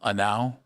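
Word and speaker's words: Genao: Then Chase Delotter and Hell Anow and it's G N A Oo, but his name is Anow. Uh, it's how you pronounce it.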